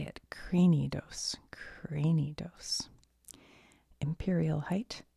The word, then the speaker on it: Cranidos: Cranidos.